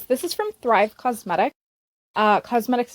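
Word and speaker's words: Causemetics: is from thrive cosmetic cosmetics is spelled c-a-u-s-e medics because it's a play on words it is a brand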